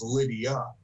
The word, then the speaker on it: Lydia: we realized what hey we're saying it wrong it was Lydia so the banter going